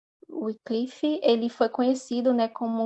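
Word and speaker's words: Wycliffe: o João wiclif em assim que pronuncia oclif ele foi conhecido né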